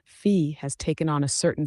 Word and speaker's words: phi: I had been pronouncing fi all along but um a AI bot recently educated me that the correct pronunciation the Greek way to pronounce it is fee and so uh it